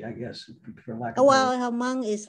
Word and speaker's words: Hmong: And when we walked in, it was correct me if I'm pronouncing this correctly or not, the Hmong service. Have you heard of that? Hmong?